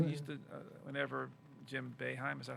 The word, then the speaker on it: Boeheim: And I used to, whenever Jim Boeheim, is that how you pronounce it?